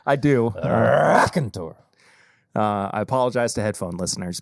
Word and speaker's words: Raconteur: This is the first time that we've reviewed Raconteur Rye on the actual podcast proper. You didn't say it right. Raconteur!